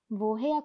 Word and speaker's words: woher: 여기서는 사실 이 wo랑 해야라는 이 두 단어가 결합된 거예요. 그래서 발음이 해야 그대로 살아 있습니다. wo, 해야 이 두 단어가 결합된 거여서 이 하가 단어의 맨 앞에 있으니까 묵음이 아니에요. 해야라고 읽습니다. 그리고 이 두 단어가 결합했다 하더라도 부에야 하를 묵음 처리하는 게 아니라 원래 단어가 해야이기 때문에 발음을 다 살려줍니다.